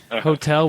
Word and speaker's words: hotel: Hotel. We're dropping the H. Um hotel.